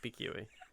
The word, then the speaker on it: pique: Yeah, it turns out we've also been saying QUE wrong. Pique.